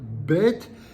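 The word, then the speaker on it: בּ: bête et le vê avec le point bête c'est bête s point c'est vê c'est un V qui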